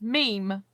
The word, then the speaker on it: Mimi: as well being interviewed mimi is pronounced meme oh right okay i